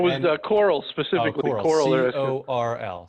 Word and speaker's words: Coral: Coral, Coral. C-O-R-L Technologies. Pronounced Coral.